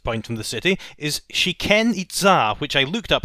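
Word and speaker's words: Chichén Itzá: Our last destination in the game, the furthest point from the city, is Shiken Itza, which I looked up how to pronounce beforehand to avoid me making it sound like an ancient Mayan poultry fast food restaurant.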